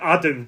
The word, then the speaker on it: Adam: Adam, just normal. Yeah. Oh, right, it's 2 A's.